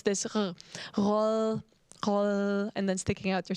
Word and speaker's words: rød: You never really say, like, the D is very soft. D is like, when I was in language school, you had to pronounce it with sticking your tongue out to have like a L sound. So roll.